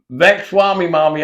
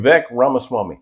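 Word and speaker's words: Vivek Ramaswamy: you know uh uh V Swami Mommy I can never know his I can't never say his name ve ramaswami there we go Vex Swami mommy there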